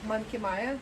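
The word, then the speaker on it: Monkey Mia: we finally arrived to mankini or monkey maya i think you can pronounce it both ways oh yeah friends you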